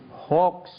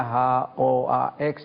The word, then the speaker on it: hoax: P Hoa dan terorisme Hoa tulisannya h o a x Tapi bacanya hx Hoa artinya menurut kamus